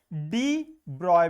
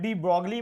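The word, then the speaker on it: de Broglie: और उन्हीं का दूसरा नाम है डी ब्रॉय wave, डी ब्रॉय। अब वैसे इसको कई बुक्स में डी ब्रॉगली बोलते हैं, लेकिन इसका प्रोनाउंसिएशन यही राइट प्रोनाउंसिएशन है, डी ब्रॉय कहेंगे, डी ब्रॉगली नहीं कहेंगे।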